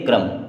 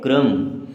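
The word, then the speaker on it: crumb: तो ये भी साइलेंट अब सी आर यू एम बी इसे हम पढ़ेंगे क्रम क्या पढ़ेंगे क्रम के एन आई वी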